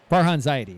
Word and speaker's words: Farhan Zaidi: Farhan Zaidi.